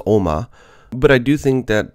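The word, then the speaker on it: 鏖魔: And the second one is for demon, so it's pronounced Oma.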